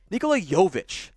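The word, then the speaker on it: Nikola Jović: in this year's class nikola yovich not jokic it's spelled almost identical the ceo which is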